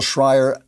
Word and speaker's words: Shrier: We have, is it Shrier, guys? Is that, am I pronouncing her name right? It's Abigail Shrier.